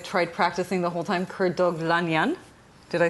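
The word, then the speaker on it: Kurdoglu: of me i've tried practicing the whole time kurt douglas did i say it right yes he did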